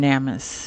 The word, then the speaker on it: NamUs: out and discover on namus or namus whatever you like to call it everybody pronounces it different um but to me I used to always say namus because cuz I felt